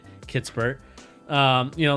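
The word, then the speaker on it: Kispert: you're a fan of corey kissbert um kitspert excuse me you know people keep correcting me so i just want to make sure i say it right kitsbur um you know like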